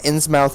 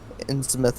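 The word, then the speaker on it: Innsmouth: so clearly yeah uh some multiple ways people have pronounced the town's name is ins moth ins moth in smith and yeah uh ins mouth is not correct in smith is correct we don't know this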